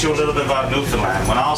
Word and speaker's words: Newfoundland: India is beer and it's pronounced Newland just like the dog there Newland is the